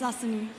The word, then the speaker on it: Asani: Am I saying it right, Asani? Yes, it's Asani. Asani, so there you go.